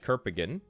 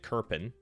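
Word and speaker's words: Kerpen: And then we're going to add Kirpigan. That's absolutely not how you say it. Kerpin.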